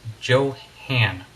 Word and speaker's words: Jo-Han: Some people say Johan, some people say Johan or Johan, but it is Johan is exactly the right way to pronounce that.